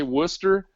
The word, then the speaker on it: Worcester: you've never heard a Worcester Massachusetts how would you spell Worcester w u s t e r all right so Worcester is spelled w r c s e r it's crazy and and